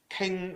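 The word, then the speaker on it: 勁: In ancient saying, the Jing method, or the Cantonese pronunciation, King method, is how we sing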